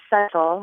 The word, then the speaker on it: subtle: Why does it have this silent B? What are its origins? And if other languages speak it, do they say the B?